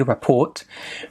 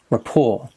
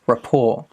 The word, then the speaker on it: rapport: Now, the pronunciation is without the T, rapport. Stress on the second syllable, rapport. It's important for teachers to develop a good rapport with their students.